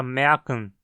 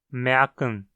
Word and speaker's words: merken: Veja, por exemplo, a palavra merken em alemão, onde a vogal A aparece como semivogal. Merken. Merken. Note também como na segunda sílaba, kn, o N funciona como uma consoante silábica.